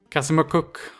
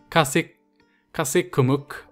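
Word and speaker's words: Kazikumukh: This episode we're either gonna go for Kasimukuk, I want to pronounce that correctly, Kasikumuk, or Naid and Uman, or possibly Dulkadir.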